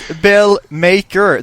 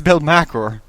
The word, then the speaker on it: Belmakor: It's Belmakor. There's no E in after the K. It's a K-O-R. It's Belmakor.